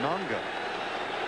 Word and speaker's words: Noga: stars of the Lions when he was in Hawaii he pronounced his name nanga got to the pros it became NOA that may be like